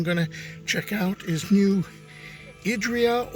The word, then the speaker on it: New Idria: And I think the next place I'm going to check out is New Idria, or as I've been told, locals pronounce it, New Idria.